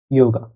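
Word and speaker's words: Yoga: এটা সাধারণভাবেই ইয়ট ও গে আ ইয়োগা এভাবে হয়।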